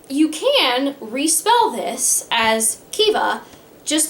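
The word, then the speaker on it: Caoimhe: of the two and this is how it's spelled and it's pronounced kiva to me as a person who does not speak the language that this comes from i would never have guessed that this was pronounced kiva and this is a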